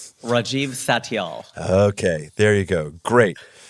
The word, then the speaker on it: Satyal: we so we got it all right Rajiv saal okay there you go great first of all